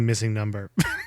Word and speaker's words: MissingNo: totally agree with you i also would pronounce it missingno the whole time like it was a real pokemon even though it's definitely missing number yeah i say no oh yeah yeah okay i mean there isn't a real way to pronounce it because it's not supposed